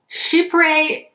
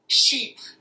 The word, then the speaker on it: chypre: Now, I know I'm pronouncing that wrong, so hold on one second. Chypre. Okay, if I can do it the way that Google Translate is telling me, it sounds like this. Chypre.